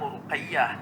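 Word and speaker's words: رقية: Ruqayyah ni sebenarnya banyak nama-nama orang-orang kita nama Ruqayyah, tapi ejaannya jadi lain. Pernah dengar orang nama Rogayah. Rogayah tu berasal daripada Ruqayyah. Itu asalnya Ruqayyah sebab Qaf. Orang Arab sebahagiannya seperti Yaman, Qaf jadi Ga.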